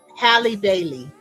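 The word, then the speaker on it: Halle Bailey: um and it's not is it is it pronounced Holly Bailey Haley Hallie Bailey yes okay yes I do see that she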